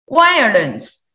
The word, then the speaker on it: violence: Violence, barrier, boundary. Yes, perfect. And also have the same meaning, have the pronunciation issue on the consonant. Consonant V.